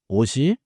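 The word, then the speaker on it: 옷이: So ot with the subject particle i becomes osi and you hear siot again.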